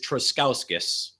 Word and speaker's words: Truskauskas: me on here uh the last name is truskauskas okay fantastic well I was pretty close then